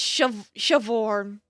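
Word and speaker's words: Siobhán: The BH is pronounced like a V and E, access an A. Okay, so it is Shavorn.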